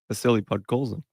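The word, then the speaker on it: Vasily Podkolzin: Sam, just for the class now, could you could you just run that Vasili Podcoulen uh pronunciation bias? Villipod Coulson. Say it again. Vasili Podcoulen.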